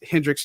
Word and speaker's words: Hendrix: But for those who are listening, it's Hendrix, just like Jimmy, not like the gin.